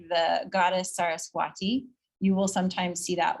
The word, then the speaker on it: Saraswati: that with a W, Saraswati, or you'll see Sarasvati. They're the same. So that V and the W, it's like the pronunciation is like an in-between sort of thing.